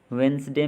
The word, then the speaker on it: Wednesday: और वेंसडे में जो साइलेंट लेटर है वो है D।